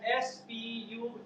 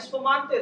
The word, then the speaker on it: spumante: But whereas when you go to Italy, they write it as S-P-U-M-A-N-T-E. Things are same. They call it spumante.